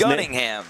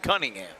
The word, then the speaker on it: Gunningham: message from Brett Taylor to if I do mispronounce these. Gunningham. Richard Molly Gunningham. Gunningham. I said Gunningham. I thought he said Cunningham.